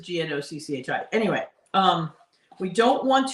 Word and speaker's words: gnocchi: we're making Yorkie so not everybody knows how to pronounce it when they see the word g-n-o all right so now this is gnocchi anyway um we don't